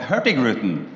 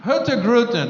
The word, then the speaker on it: Hurtigruten: Daniel, tell us a little bit about first of all, how do you pronounce it? It's called Hurtigruten. Hurtigruten, all right?